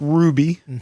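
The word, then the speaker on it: Hruby: Thank you to uh Patrick Ruby. I think that's how he pronounces his last name. It's H R U B Y.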